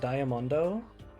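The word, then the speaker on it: ダイヤモンド: In Japanese, diamond is pronounced diamondo.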